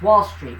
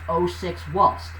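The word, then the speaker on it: 06WALLST: Now you may think that's Wall Street, but it's pronounced 06 Walst, okay?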